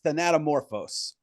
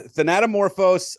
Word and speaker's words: Thanatomorphose: I pronounce it as Thanatomorphose. Holy shit. Yeah, Thanatomorphose.